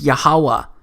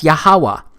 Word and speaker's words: Yahuwah: H it's pronounced as yahuwah because it turns out that the language was so simple back then that it vocalized each consonant with an AA sound without specifically marking that sound between consonants so this yhw H